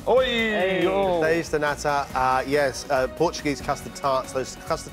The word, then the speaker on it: Pastéis de nata: I've been so looking forward to this, John, because you're doing, I don't know how to pronounce it, pastel. Pastéis de nata. Oi! Pastéis de nata, Portuguese custard tarts, those custard tarts you get